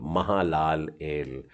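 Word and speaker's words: מהללאל: उच्चारण करने का है, तो ये हो गया मा, हा, ला, ल, और एल, महालाल एल, महालाल एल, जिसका मतलब होता है परमेश्वर का तेज।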